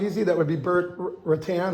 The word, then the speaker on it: Rutan: Well, how about, you know what, correct me if I'm wrong, the long easy, that would be Burt Rutan, how do you pronounce it, Rutten? Right. Rutten, that's a pretty cool plane too.